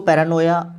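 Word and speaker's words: paranoia: ये जो वर्ड है इसको पैरानोया प्रोनाउंस किया जाता है।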